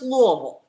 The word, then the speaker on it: Louisville: i found out this morning is actually from louisville kentucky the bluegrass state is that right lori yes i am and it's actually pronounced louisville just follow it okay fine so i'll just